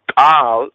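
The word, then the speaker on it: קול: The word Kol in the Hebrew means voice. The word Kal, same word, and when you look at the letters, but pronounced differently, you know, slightly differently.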